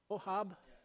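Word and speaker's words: Ochab: Ohab? Ohab? Okay, C is silent.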